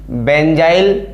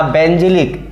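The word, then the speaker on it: benzyl: बेंजाइल halide या बेंजिलिक। देखिए, हिंदी और इंग्लिश में केवल प्रोनाउंसिएशन बेंजाइल बोल सकते हैं, इसको बेंजिल बोल सकते हैं।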